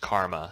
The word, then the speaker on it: Chrma: weird I guess you could say but it's pronounced karma so the CH makes a que sound so